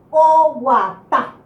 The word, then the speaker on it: oguatá: La palabra guatá, la raíz de la palabra, es más fuerte en la última vocal, la sílaba tónica.